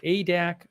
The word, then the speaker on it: Adak: Nick Klein, who says it's pronounced Adak from Alaska.